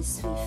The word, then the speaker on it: suis: So this one is moi je suis Frédéric et toi. Moi je suis Jessica. Suis. The S at the end is silent.